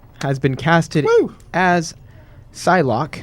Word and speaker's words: Psylocke: as Psylocke. Hopefully, I'm describing it right or pronouncing it correctly. That's correct. Sweet. For XMen Apocalypse in it's not- 2016. You mean so it's not Pasai Lucky?